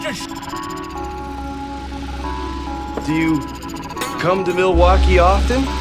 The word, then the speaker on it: Milwaukee: If you're not going to do that, then you could just Do you come to Milwaukee often? Actually, it's pronounced milwauke for the good land.